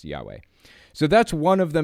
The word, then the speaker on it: Yahweh: pronounced at at all it's supposed to be pronounced Yahweh basically with some accent marks in different places but for the most part it's supposed to be pronounced Yahweh so that's one of